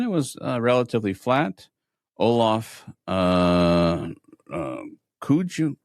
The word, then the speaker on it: Kooij: Olaf Kooij, Kooij, is that how you pronounce it? I believe it's Kooi.